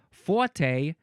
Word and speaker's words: forte: However, in British English, forte and fort with no a fort, they predominate in Britain England land. Uh, forte and forte are probably the most frequent pronunciations in American English.